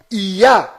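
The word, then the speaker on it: יה: Toda vez que estas duas letras hebraicas estão fazendo referência ao Altíssimo, estão fazendo menção ao Altíssimo, a pronúncia delas sempre é ia.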